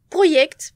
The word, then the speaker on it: Projekt: faire un petit rajout, on va dire, Projekt, parce que c'est comme ça que c'est prononcé en polonais.